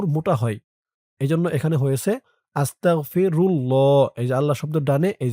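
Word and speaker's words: أستغفر الله: থাকে খেয়াল করে শুনবেন আল্লাহ শব্দের ডানে পেশ এবং জবর থাকলে তাহলে আল্লাহ শব্দের লামের উচ্চারণটা ল হয় পুর মোটা হয়। এজন্য এখানে হয়েছে আস্তাগফিরুল্লাহ।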